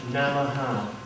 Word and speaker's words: Namaha: And the second word is Namaha. Второе слово произносится вот так. There's 3 syllables, na and ma and aha.